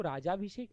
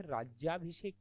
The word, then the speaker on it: राज्याभिषेक: देखो, राजाभिषेक नहीं होता, यह राज्याभिषेक होता है।